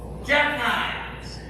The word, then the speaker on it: jackknives: I don't understand what the silent K is about, is it? It's knife. That doesn't make any sense. What are we doing? Silent K in there, that's below.